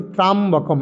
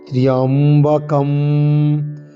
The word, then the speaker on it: ত্র্যম্বকম: তারপরে শব্দ কি না ত্র্যম্বকম, আমরা অনেক বলি ত্রাম্বকম, এরকম নয়। তয়রফলা জফলা, ময়ে ও ক অনুস্বার। ত্র্যম্বকম ত্র্যম্বকং যজামহে, ত্র্যম্বকম, এরকম ত্র্যম্বকম ত্র্যম্বকম ত্র্যম্বকম যজামহে।